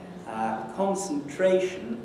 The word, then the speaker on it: concentration: Concentration, there are two stresses in the rhythmic sense. The second one has the big accent on it, the first one has the smaller accent on it, and that's why it seems to be secondary or subsidiary.